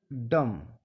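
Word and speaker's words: dumb: इसके यह उदाहरण है जब एम के बाद बी आए तो बी साइलेंट रहता है जैसे सी एम बी B silent रहेगा कॉम डी यू एम बी डम बी साइलेंट रहेगा टी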